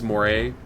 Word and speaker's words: moray: try and find a Murray or Moray is there a proper way to say that or am I silly it is more a okay Murray the Murray